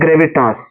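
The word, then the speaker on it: gravitas: तो उधर जो है लिखा होगा ग्रे वी टास ग्रेविटास इस तरह आपको लिखा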